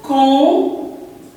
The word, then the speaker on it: compter: Alors, le verbe compter. Compter. Je compte. 1, 2, 3, 4 et 5. Je compte. Mais ce P, ça ne se prononce pas.